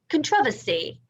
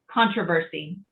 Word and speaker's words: controversy: that's weird isn't it controversy controversy if you said it the british way in the u.s you would get laughed at yes my husband was